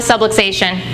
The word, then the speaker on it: subluxation: pressure on the nerve we call it a sublation rhymes with subway station I tell people that's